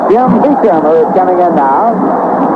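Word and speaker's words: Beauchamp: He spells a B-E-A-U-C-H-A-M-T, and he pronounces it Beecham.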